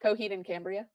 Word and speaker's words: Coheed and Cambria: you say the band Coheed and Cambria Cambria coh and Cambria there you go I am not good at